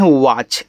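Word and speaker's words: watch: डब्ल्यू ए टी सी एच इसको पढ़ते हैं वाच। ऐसे वाच यहां टी आपका साइलेंट है। टी सी एच को हम चाचाही के रूप में पढ़ते हैं। ठीक है? यहां पे टी साइलेंट होता है।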